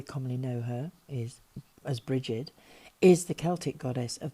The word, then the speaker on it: Brighid: of the Sun and this lady is Bridge spelled a more commonly pronounced Brigid was worshiped as a